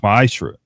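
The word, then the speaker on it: מעשר: You can find this in numbers 18 and 21 and Malachi 3:es 8-10 means 10th in Hebrew and it's pronounced maishra 10% of every penny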